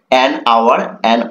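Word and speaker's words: hour: লেটারে দেখো এন আওয়ার এখানে দেখো এইচ টা কিন্তু কনসোনেন্ট হয়েছে বাট এইচ টা এখানে কিন্তু সাইলেন্ট রয়েছে অর্থাৎ এই যে ও যে রয়েছে এই ওর ও টা কিন্তু প্রোনাউন্স করছে ও টা সাউন্ড করছে বাট এই এইচ এর সাউন্ড কিন্তু হয়নি এইচ টা কিন্তু সাইলেন্ট আছে যার কারণেই কিন্তু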